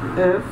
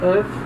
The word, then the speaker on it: œuf: A palavra œuf, palavra œuf quer dizer ovo. A palavra ovo, œuf, ela muda de pronúncia no plural.